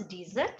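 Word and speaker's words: dessert: डिजर्ट means होता है sweet dish, उसमें एस एक और आ जाता है, डिजर्ट। Pronunciation is डिजर्ट, sweet dish. और जो रेगिस्तान वाला एरिया होता है, दैट इज कॉल्ड डेजर्ट।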